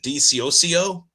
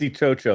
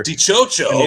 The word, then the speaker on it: Dicioccio: Is it Dio? Did I say that right? It's not good. It's do. It's easier. Dooo. Okay. Okay. Dooo. That's a lot easier.